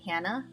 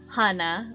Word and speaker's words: Hana: pronunciation of my name they say hannah when it actually should be pronounced as hana or hana which is what the